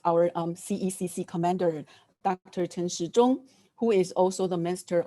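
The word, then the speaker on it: Chen Shih-chung: um cecc commander dr tan xi jong who is also the master of the health and welfare of taiwan because his name pronounced like clock in mandarin chinese therefore we like to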